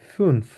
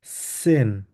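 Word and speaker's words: zehn: হবে আক্ট নয়েন নয়েন সেন সেন এস এর মত উচ্চারণ করবো সেন আবার ট্রাই করি আমরা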